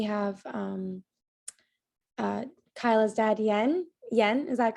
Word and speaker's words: Jens: name right is it yen yes it's an s at the end so it's j e n s pronounce j like y so i'd love to